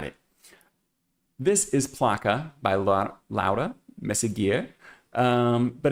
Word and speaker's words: Laura Meseguer: It is Placa by, I'm going to try to say, I'm going to probably accidentally revert to my Americanized version of Laura, but I do believe her name is pronounced Laura Meseguer.